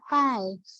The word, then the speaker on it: chi: ya Nah teman-teman tuh kalau baca tulisannya jangan itu bacanya Kai ya Jadi kalau dalam Indonesianya toy Square adalah Kai kuadrat kain itu yang bentuknya